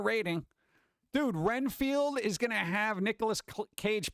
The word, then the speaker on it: Renfield: bug eater man field is that Seinfeld or is it renfeld Renfield unless I'm thinking of